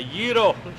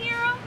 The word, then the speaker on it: gyro: a, and it's a gyro. Yeah, how do you say gyro? Gyro, Can I not have a gyro, Can I not have gyro. a gyro? It's a gyro. Gyro. The authentic word is gyro.